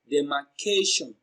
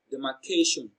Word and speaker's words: demarcation: the medication is pronounced and broken down into syllables as demarcation the medication so the third syllable k receives the stress because it is pronounced louder and longer demarcation that's demarcation so k receives the stress the